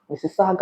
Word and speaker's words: Mississauga: before I came, I saw the word Mississauga, Mississauga, Ontario. Look at the way I just pronounced it.